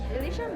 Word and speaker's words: Elysian: Elysian ba?